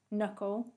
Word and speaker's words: knuckle: start of a word so a k becomes a silent letter if it comes before the n in the start of the word for example knight knuckle knowledge and knife this means when we say the word we can't hear the letter k it sounds like it starts with an n the w becomes a